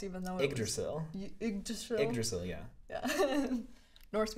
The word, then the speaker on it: Yggdrasil: a lot of pieces recently that are, I guess, somewhat programmatic, like Yggdrasil Highway, which I still don't know how to pronounce, even though Yggdrasil.